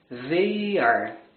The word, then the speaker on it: they: They are. Quando você ouve, você escuta o som de V. Porque nessa situação ele vai soar como a letra V. Mas a pronúncia é língua entre os dentes.